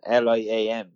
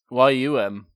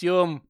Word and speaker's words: Liam: like liam he's like no it's yum as in yummy yeah like but people